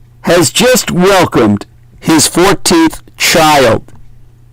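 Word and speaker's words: χ: X is the Greek letter chi, CHI, which has a K sound in the ancient Hellenic, meaning it's actually correctly pronounced Chi in the ancient Greek.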